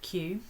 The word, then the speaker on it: queue: long queue and actually in french they use the word q or is how they say it but it means